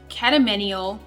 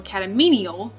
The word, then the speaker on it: catamenial: to my channel today we are talking about catamenial or catamenial however you would like to pronounce it seizures like i said catamanial epilepsy